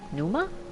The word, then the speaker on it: Pneuma: becoming uh yes lightning pneuma is that right I'm assuming the p is silent like a pterodactyl lightning pneuma just as